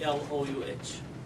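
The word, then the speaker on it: Allouh: A-L-O-U-H. And that's pronounced?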